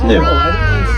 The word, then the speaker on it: gnu: wildebeest no close it's new it's spelled gnu they get the name